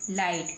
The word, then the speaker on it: light: ऐसे ही लिखा हुआ है LIGHT, लाइट, क्या बन गया, लाइट, LIGHT। G और H लिखा हुआ दिखाई देगा लेकिन बोलने में नहीं आएगा, तो बन गया लाइट, क्या बन गया, लाइट, है ना।